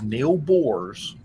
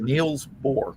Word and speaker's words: Niels Bohr: the guy was Neil Bohr's. Or, Oh. I'm sorry, Niels Bohr.